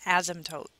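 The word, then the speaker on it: asymptote: have something called an ASM toote notice that the P there is silent in the middle and the S here is pronounced a little bit more like a z so an ASM toote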